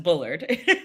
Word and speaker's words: Bullard: I don't know which is technically right, but just Bullard. Bullard.